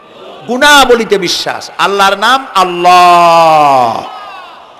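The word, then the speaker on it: الله: আল্লাহর নাম আল্লাহ। বলেন তো আল্লাহ নয়। কিন্তু আল্লাহ হচ্ছে অশুদ্ধ। শুদ্ধ হচ্ছে আল্লাহ। বলার সময় মুখটা গোল হয়ে যাবে।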